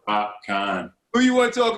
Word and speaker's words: Popcaan: Popcaan. Popcaan. My bad. I was like, I didn't want to say it because I was wondering the same thing. I was like, is it Popcaan? Like Popcaan.